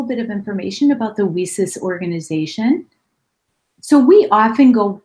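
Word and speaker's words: WiCyS: of information about the wheesus organization so we often go by our acronym lisa's w-i-c-y-s and it's pronounced like we sisters and that's exactly what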